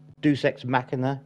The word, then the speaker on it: deus ex machina: entire third act into like a deus ex deus ex machina. Is that how I'm meant to pronounce it?